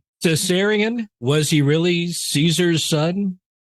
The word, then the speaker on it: Caesarion: I can't pronounce this right. Caesarion, was he really Caesar's son?